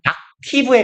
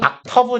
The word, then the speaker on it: octave: 얘 옥타브라고 우리는 하는데 영어 발음은 악티브에 가까워요. 악티브, 악터브 정도로 발음합니다.